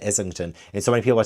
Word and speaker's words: Islington: The Will of the Many, written by James Islington. Islington. He said Islington, and I knew. So I was saying in my videos when I was like talking about this book, I said Islington, and so many people were telling me that's